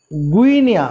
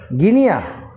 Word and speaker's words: Guinea: Liberia, হ্যাঁ ও এটা Ghana, এটা ওটা গুইনিয়া, গুইনি, গুইনিয়া, গুইনিয়া বলে একটা দেশ আছে, গুইনিয়া, গুইনিয়া, হ্যাঁ গুইনিয়া ওটা। এই যে এটা হচ্ছে গুইনিয়া, গিনি, GUINEA, কি উচ্চারণ করবি? গুইনিয়া, GUINEA, GUINEA, গুইনিয়া, গিনিয়া, গিনিয়া তো হচ্ছে না, না এখানে GUI আছে